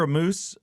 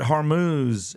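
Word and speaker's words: Hormuz: I hear amuse or like I said, but Harmuz is the the correct pronunciation.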